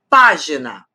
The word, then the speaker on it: página: Se eu digo assim, página, são 3 sílabas. Página, página. E a antepenúltima é a forte.